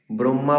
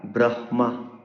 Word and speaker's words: ব্রহ্মা: তখন হ এর উচ্চারণ নাসিক্য ব্যঞ্জনের পরে করতে হয়। তো আর ব্রহ্মা বলা যাবে না।